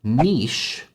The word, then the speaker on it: niche: One really good example of this is the word niche, which a lot of Americans will pronounce niche. I actually did a video on the pronunciation of this word, and I still have people in the comments telling me that niche is not an acceptable pronunciation. But I guarantee in the United States of America, it has become one.